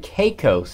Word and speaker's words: Caicos: This is Turks and Caicos.